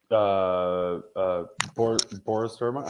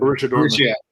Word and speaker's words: Borussia Dortmund: But like Boris Dortmund, how do you say it? BBB in Germany. Borussia Dortmund.